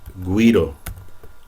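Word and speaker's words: güiro: we have this word, guido. Guido is an instrument that's used in the Caribbean. Guido. So notice how now this U is pronounced like a W, like gue or gui.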